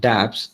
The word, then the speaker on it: dApps: And the applications that you develop on top of Ethereum are called dApps or dApps, decentralized applications. That's what it stands for. It's pronounced both the ways, dApps and dApps.